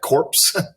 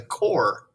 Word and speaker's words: Corps: It looks like corpse. That's a good Halloween word, corpse, but it's not. It's that P is silent. And the S is really too. It's called just the core of discovery.